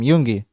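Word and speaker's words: Yoongi: said so he said yungi all right so that's how you say his name yungi it's not y yungi Yuni yungi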